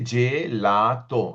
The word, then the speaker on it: gelato: G is pronounced as G. Come here, the famous what everybody knows, gelato. So, you see I say gelato. I pronounce each and every alphabet.